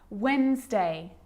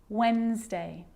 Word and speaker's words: Wednesday: that's the silent c so what about the letter d yep it can be silent too wednesday handsome sandwich so i'm